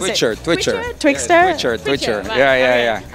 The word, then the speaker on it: Twitxr: thing what's it called twixtor how do you pronounce it richard twitcher twixtor richard twitcher yeah yeah yeah and what is